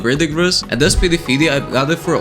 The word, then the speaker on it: Verdigris: I think we pronounce Verdigris.